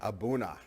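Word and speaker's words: A'bunadh: Abra or tasting and they said that it's for abuna it is it's because they say abuna Matata so I actually remembered that from a tasting with them they say it's abuna is this how you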